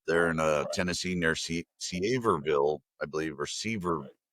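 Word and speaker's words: Sevierville: in uh Tennessee near Seaverville, I believe, or Sever. It's not pronouncedville. It's like Severeville.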